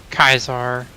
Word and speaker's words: Caesar: to say it but Caesar kaisar kaisar how they like to say it it's technically correct Latin pronunciation really technically yeah yeah